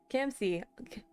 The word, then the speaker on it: Camsy: Camsy, pronounced Camsy.